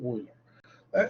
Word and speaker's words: Euler: It's very common to pronounce it in German, like exactly Euler.